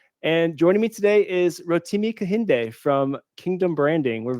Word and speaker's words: Rotimi: If you're trying to pick out how to say the name, it's Rotimi. That's like rotini pasta with an M. So Rotimi.